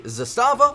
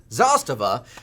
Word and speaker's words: Zastava: back to CF Clips this is the Zastava or as you correctly pronounce it Zastava zpap 92 it's a